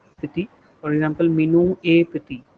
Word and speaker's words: petit: not the vowels, but the consonants at the end remain silent. It is never pronounced. For example, T is Petty. silent. Yeah, petit, petit.